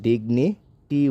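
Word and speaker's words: dignity: শেষে ওয়াই ব্যবহৃত হয়েছে তাহলে ওই ওয়াই এর উচ্চারণটা কিন্তু ইকারের মত হয়ে থাকে। তাহলে ডি আইজি ডিগ এন আই নি ডিগনি টি ওয়াইটি ডিগনিটি।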